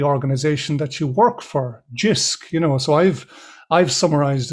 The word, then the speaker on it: Jisc: what Jisc is about, or even if I'm pronouncing the name of it correctly? You can start there if you wish. Yeah, it's Jisc.